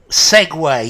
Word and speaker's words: segue: Segue, yes, Elena, to segue. Notice, Elena, the pronunciation.